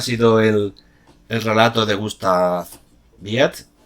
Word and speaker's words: Wied: Bueno, pues ese ha sido el relato de Gustav Biet. Ya sabéis, se escribe con W.